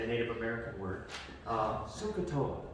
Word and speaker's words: SOHCAHTOA: SOHCAHTOA, right? And I always wanted to say SOHCAHTOA because I thought it was a short O.